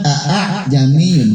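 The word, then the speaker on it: أأعجمي: Baik, nomor 11 tulisannya a'jamiyun, bacanya a'jamiyun. Jadi meringankan hamzah kedua. Namanya bacaan tashil. Bacaan tashil, hamzah kedua ringan bacanya. Terdapat di surat Fussilat ayat 44 juz 24. Jadi yang kedua diseret.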